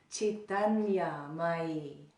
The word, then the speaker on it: Caitanyamayi: And the second word is Caitanyamayi. Say that. Caitanyamayi.